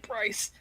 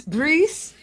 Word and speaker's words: Brice: No, he's probably like, oh, God, he's calling me Bryce. It's Brice ArnaudGuerin. Brice. And you're like, Bryce, in your Canadian accent.